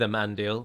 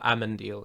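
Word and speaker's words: Amandil: going to bother with a man deal i don't think he'll be in the show or ammon deal is how i should pronounce it but i get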